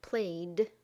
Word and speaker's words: played: It can be pronounced d, as in played.